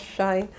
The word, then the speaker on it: Shein: They pronounce it as Shein.